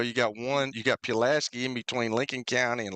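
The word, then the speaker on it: Pulaski: Well, how do how do you how do you say Pilaski? Pilaski. It's not Pilaski. Oh, are you kidding me? Pew. Pilaski. Who says? Me. I'm from right there next to it.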